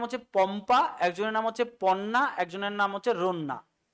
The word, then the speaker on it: পন্না: 3জন poet flourish করেছিলেন, একজনের নাম হচ্ছে পম্পা, একজনের নাম হচ্ছে পন্না, একজনের নাম হচ্ছে রন্না। এটা ঠিক করে নাও, বন্যা নয়, এটা পন্না, PONNA।